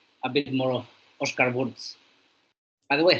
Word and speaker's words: Wurz: Austrian surname sorry but it's like Oscar VZ it's prob how you pronounce it but that because